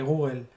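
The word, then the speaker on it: googol: El término Google, que se escribe G-O-O-G-O-L, o Google, como suena, viene de un nombre que se le asigna a una cantidad de información, ¿vale?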